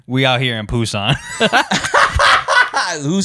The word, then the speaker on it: Busan: Oh my Busan. Very straightforward. See, somebody commented, no, it's more like Poo-san. You pronounce it like Bosan. This dude ain't even Korean saying it. It's Busan, man.